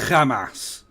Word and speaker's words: Hamas: For the record, that Iran has sponsored terrorism through Hamas, the Houthis, and It's pronounced Hamas.